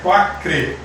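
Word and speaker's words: Quaker: é quatro crê tá a gente escreve com aqui mas a pronúncia é quatro crê e o que que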